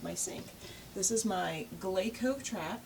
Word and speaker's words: GLECO: sink this is my GCO trap the Glo GCO trap or I think it's actually pronounced gleo the uh trap is